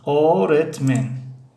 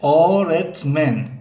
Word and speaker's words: öğretmen: öğretmen این حرف دوم حرف یموشک گ است. یموشک گ گاه به مثل غی تاجیکی تلفظ میشود، غی ملایم. اما گاه تلفظ نمیشود، گاه به مثل ای شستیگی، یعنی شستیگی در زبان روسی شستیگ میگیم، به مثل همون گاه تلفظ میشود. اما از روی خواندن معلوم میشد که این چه خیلی تلفظ میشود.